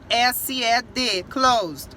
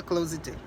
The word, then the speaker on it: closed: Aí, se você não sabe, você pronunciaria closed. The door is closed, né? Porque tem esse ED aí. Só que tá errado. A gente não fala closed. A gente fala the door is closed. Closed. Porque é um D. O E não aparece. O E tá ali, mas ele não tem som. Então, você vai pronunciar ele com D.